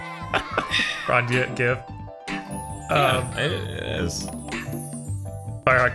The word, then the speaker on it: GIF: It's more of a G or Well, it'd be graphics, so GIF. Not giraffics. Right. I stick with the Maddox explanation of he invented a fucking image format, not the letter G. Right. Stan Richardson says it's pronounced YIF.